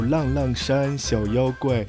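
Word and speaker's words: 浪浪山小妖怪: Sí, efectivamente, y en chino se pronuncia como Lang Lang Shan Xiao Yao Guai, los pequeños monstruos, ¿no?,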